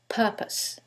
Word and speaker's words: purpose: However, in the first one, it's the second syllable that's stressed, and in the second one, it's the first syllable, and that changes the pronunciation completely. The first word is propose, and the second word is purpose.